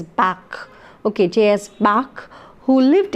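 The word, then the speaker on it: Bach: fug is JS Bak I had pronounced it bash earlier I'm sorry it is Bak okay JS Bak who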